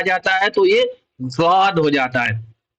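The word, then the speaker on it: ضاد: جاتا ہے تو یہ زاد ہو جاتا ہے. زاد کو دواد نہیں کہتے ہیں، کیونکہ اس کا تلفظ، جو اس کا پروننسیشن ہے، جو اس کا اچارن ہے، وہ زاد ہوتا ہے.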